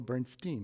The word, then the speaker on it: Bernstein: even though it's (foreign language), so it could be Jeffrey Bernst-ahyn or Bernst-een, but how do you pronounce it? - I pronounce it, Bernsteen because my relatives from Belarus pronounced it Bernsteen.